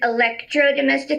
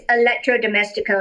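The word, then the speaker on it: electrodoméstico: Electro well yeah we I think in California we think Electro domestic cuz that's the Spanish version of it but it's electrodomestico and it basically means like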